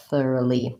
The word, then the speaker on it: thoroughly: This word does have a light front L because li begins the syllable. So I just have to try thorough and then finally thoroughly. Oh, there is another change, however. when I have the word thoroughly, I no longer say this clear vowel O.